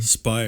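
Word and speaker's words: Speier: Spire.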